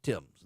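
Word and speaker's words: Thames: is spelled themes t h mes it is pronounced the Tims the Tims is the famous river that runs through London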